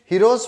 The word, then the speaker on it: Heron's: बहुत से लोग इसमें एन को साइलेंट रख देते हैं, पता नहीं क्यों, बट ठीक है, हीरो के नाम से है तो भाई अपन भी रख लेते हैं, हीरोज फार्मूला भी बोल सकते हैं।